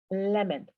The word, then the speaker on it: lemon: Se pronuncia lemon. ¿Ok? Solo tenerlo presente, que cuando una palabra acaba en ON, casi siempre se pronuncia en.